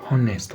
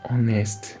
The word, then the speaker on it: honest: An honest man. An honest man. You won't say a honest man because the pronunciation to start with not the H. The H is also silent.